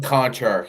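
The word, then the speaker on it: Konchar: Kashar, is it Kashar? Is it Kashar? John Kashar? Is that his name? Oh, yeah. John Conchar. Yeah, Conchar. Yeah, I can never pronounce his name.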